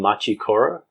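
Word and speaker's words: Machi Koro: right now um right now you like playing machu koro how do you spell that m-a-c-h-i-k-o-r-o machikoro that sounds japanese well it's a japanese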